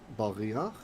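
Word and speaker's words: בְּרִיחַ: Pardon me, the rechim, the word is actually baryach. Baryach. Okay, with your furtive patach here. Meaning you say that before the guttural. Whenever a guttural is at the end of a word and it has a ah, you say the ah first.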